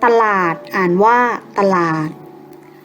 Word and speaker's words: ตลาด: สังเกต กัน นะ คะ เวลา อ่าน จะ อ่าน เหมือน มี หอ หีบ อยู่ ด้วย เช่น คำ สั่ง อื่น อ่าน ว่า สั่ง น อื่น ๆ ตลาด อ่าน ว่า ว่า ตลาด